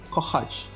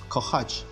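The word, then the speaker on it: kochać: Итак, первая буква «х», видите, читается «ch», «ch», если говорить английскими буквами «ch», в русском читается как «х». Пример «хата», «хата», «любить», «кохач», «кохач». Следующая буква «ж», польский «r»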